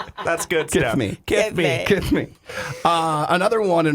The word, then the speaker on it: Kethmi: And she says in her bio, if you're trying to figure out how to say my name, think Mike Tyson saying "kiss me." That's good Kiss stuff. me. Kiss me.